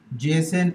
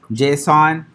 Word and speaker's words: JSON: screen this is Jason all right now the pronunciation is Jason I have researched hitted over the years and that's why we pronounce but you will see people calling it JSON alright people call it but I've researched the